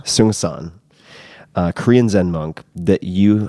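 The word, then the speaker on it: Seung Sahn: whose name I still don't know how to pronounce properly. Seung-san. Seung-san, Korean Zen monk that you have gifted to many, many, many, many people.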